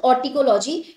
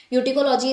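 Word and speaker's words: autecology: First is ऑर्टिकोलॉजी या यूटिकोलॉजी भी बोल सकते हैं. कुछ लोग इसको ऑर्टिकोलॉजी बोलते हैं, कुछ यूटिकोलॉजी बोलते हैं. यूटिकोलॉजी is more correct pronunciation according to मी.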